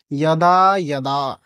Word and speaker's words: যদা: কিন্তু আমাদের মত মহান ব্যক্তিদের কে বলবে যে এই বর্ণের শুদ্ধ উচ্চারণ জ নয়। ই অ ই অইটাকে শীঘ্রতার সাথে উচ্চারণ করতে হবে। সময় নিয়ে উচ্চারণ করলে হবে না। শীঘ্রতার সাথে একসঙ্গে দুইটাকে উচ্চারণ করতে হবে। ই এটা না ই তাহলে উচ্চারণ হবে ইয়াদা ইয়াদা।